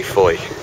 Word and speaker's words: Fowey: leaving the lovely little town of FO which is spelled f but we say Foy we've been rained in